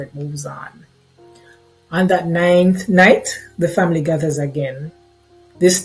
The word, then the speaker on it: ninth night: And we have, of course, what we call ninth night, or some people mispronounce it and call it nine night.